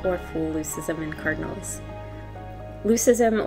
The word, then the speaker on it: leucism: Leucism, or as some pronounce it, leucism, is a genetic condition where color pigments are lower.